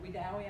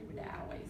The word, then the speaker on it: Wedowee: And I have heard Wedowee, Alabama, pronounced Wedowee by some, but it's actually Wedowee.